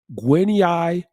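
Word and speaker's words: Gwinyai: guinyi her last name is spelled m-u-z-o-r-e-w-a guinea is spelled g-w-i-n-y-a-i guinea she writes this quote monotheism is one platitudinous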